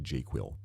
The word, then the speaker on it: JQL: So the search language for Jira, I pronounce it jQuil, but here is a database.